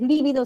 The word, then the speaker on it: lívido: Si es lívido es esdrújula, si digo libido es grave y son palabras diferentes.